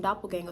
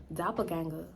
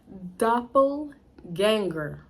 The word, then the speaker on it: doppelgänger: up we got some doppelganger store doppelganger I feel like I said that wrong we got some Doppler gang how you say it doppelganger all right I had